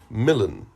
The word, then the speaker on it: Milan: don't say you were in milan to rhyme with villain and never saw the